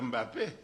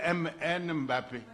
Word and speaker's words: Mbappé: jouent sauf peut-être Mbappé mais parfois ils disent MN Mbappé Guillen MN il prononce d'abord le M parce qu'ils peuvent pas coller le M et le P ils peuvent pas coller ça ça n'existe pas dans leur son donc présenter graphiquement il